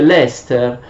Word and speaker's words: Leicester: anno fa in Inghilterra, si scrive Leicester, però si legge Leicester.